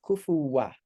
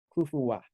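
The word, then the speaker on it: كُفُوًا: have this alif afterwards so that when you end on that word when you end on that word rather than dropping off the last vowel you would have uh you end with an Assam so if you were to end on this word you would read it as kufuwa kufuwa this so yeah I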